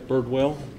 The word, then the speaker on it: Birdwell: name again that's jeff birdwell it's spelled like it sounds a bird and a whale b-i-r-d-w-e-l-l excuse me this